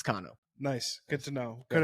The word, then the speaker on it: Cano: on the planet um my name has been pronounced has been butchered for years and I never really uh corrected anybody it's actually cono but you are a